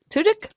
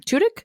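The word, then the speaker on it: Tudyk: Alan tuik or toic tudk I can't remember how to say his last name tudk I always say tudk but you have to say it fast because otherwise it sounds like to dick and that's inappropriate so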